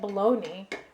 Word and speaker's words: baloney: me is baloney actually how come something that is spelled like baloney rhymes with a pony it doesn't it doesn't